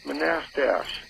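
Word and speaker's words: Manastash: Do you know where Manastach? Yeah, it's pronounced Manastach.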